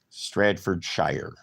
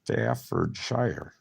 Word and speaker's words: Staffordshire: I like the way Americans pronounce some of our towns, like Stratfordshire. That's how I'm pronouncing that. Stratfordshire. You probably put an R in there. Well, there's Staffordshire. Oh, what else they say? Yeah, Ohio. And they went to another one. I forget. It's Staffordshire.